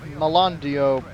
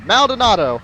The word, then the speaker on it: Maldonado: Well, let's go to the Malandio residence, or however you pronounce that. The Maldonado. The Maldonado. There we go. Maldonado.